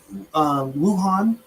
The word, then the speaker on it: Wuhan: Wuhan.